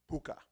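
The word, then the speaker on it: púca: or pu kha but however you spell it it's pronounced puka and there's two kinds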